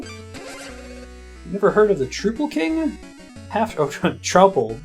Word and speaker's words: Troupple: never heard of the truple king half oh trle so trout Apple half trout and half Apple pronounced like mouthful trouble one of the forest